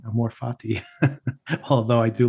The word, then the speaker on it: Amor Fati: So let's get into the episode, which is called Amor Fati, not Amor Fati, Amor Fati. Although I do like Chelsea's pronunciation of it later.